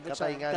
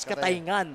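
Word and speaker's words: Cataingan: So ito pa lang ang pronunciation pala ng Katayngan. Katayngan, partner. It's Katayngan.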